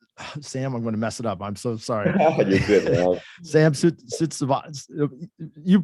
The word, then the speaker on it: Sansudsavat: Yeah, so my name is Sansudsavat.